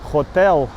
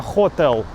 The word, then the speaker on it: хотел: Да, по-русски отель, по-сербски, наверное, хотэ́л. Но, наверное, хóтел. Потому что, я знаю, что в сербском ударение почти никогда не падает на последний слог.